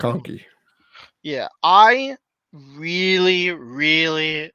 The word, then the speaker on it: McConkey: McConkey, is that how you pronounce his name? Is that yeah, right? Yep. I'm getting Lad that correct. McConkey.